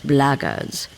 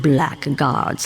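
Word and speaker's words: Blackguards: another one of those blaggers and that's the way to pronounce it not black guards like that thug insisted it was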